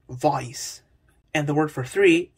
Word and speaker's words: voz: After stressed vowels before S at the end of a syllable, a consonant sound Y is inserted. For example, to say voice, instead of Voz. you'd say voice.